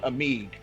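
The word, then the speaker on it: Amigue: it's it's actually called amig uh a-m-i-g-u-e so almost like amigo but what but with a silent uh digraph at the end interesting i don't know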